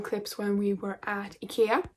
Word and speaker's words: IKEA: when we were at IKEA. IKEA is the way that we pronounce it in Sweden, or at least my family does. But then IKEA is most common maybe for most of you.